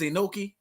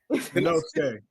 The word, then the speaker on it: Inosuke: I caught up late, and I get joke for not saying his name right, but is Inoki? I said it right. Inosuke.